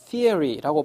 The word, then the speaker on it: theory: 시어리가 아니고 theory라고 발음하시면 원어민에 가깝게 발음하실 수가 있는 겁니다.